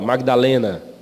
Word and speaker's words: Madalena: Maria de Magdala, Magdalena, né? É que na nossa pronúncia a gente engole o G, né? Fica Madalena, né? Mas é Maria de Magdala.